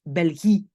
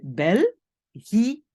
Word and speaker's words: België: Alors moi, j'entends beaucoup de gens qui prononcent Belgique. Non, les petits points sont là pourquoi? Pour dire, attention, c'est België. Et on a d'autres pays aussi, Italie, Italie.